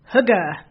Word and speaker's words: Hygge: It's called, okay, here it goes, Hygge, something like that. Anyway, it's spelled Hygge, and it's this Danish practice of coziness, warmth, connection, and slowing down to savor the moment.